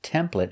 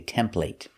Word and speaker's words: template: Now this word is pronounced template in America, but in England they say template, but we're teaching American English, so we pronounce it with the e sound.